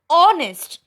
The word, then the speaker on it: honest: for the same um the noun beginning with silent h begins with the sound of o or o that it